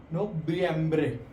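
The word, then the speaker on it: noviembre: नवंबर नोबियम्बरे. इसमें हमेशा बी की थोड़ी साउंड आती है.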